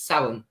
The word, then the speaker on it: Samhain: One of my favorite celebrations is Samhain, or some people pronounce it Samhain, but it's an ancient Celtic festival on the 31st of October.